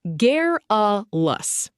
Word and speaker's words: garrulous: Garrulous, pronounced gar-a-lous.